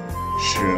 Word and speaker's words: 十: 十 is second tone, so we pronounce it 十十数字 counting 赶过来读 Let's read together 一二三四五六七八九十百 is 100 in Chinese.